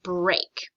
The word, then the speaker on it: break: right it's a rule breaker word um in this word we have the spelling e a and usually it's pronounced e but in this word it's pronounced a so this word says break okay say the word